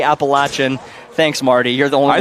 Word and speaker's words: Appalachian: It is Appalachin State and East Carolina.